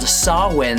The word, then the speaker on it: Samhain: So let's get into chapter 2, which is titled Samhain Samādhi. Or if you're gonna pronounce it wrong, Samhain Samādhi.